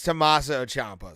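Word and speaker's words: Tommaso Ciampa: say his first name but yeah yeah it's tommaso Champa sir tommaso Champa we got yeah Rodriguez don't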